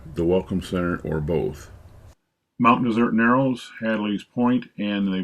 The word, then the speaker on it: Mount Desert: And it is pronounced Mount Desert, not Mount Desert, as the spelling would suggest.